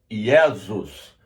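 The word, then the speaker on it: Iesus: Jesus vem do latim no latim se escreve yesus o J antigamente no latim ele tinha a conotação de i aí depois passou até conotação de G mas Jesus vem do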